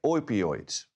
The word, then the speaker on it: opioids: And of those, about 70% came from synthetic opioids. Opioids, that's the proper pronunciation.